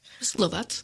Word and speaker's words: Lovat: So, Mrs. Lovat, I think that's how it's pronounced. Lovat.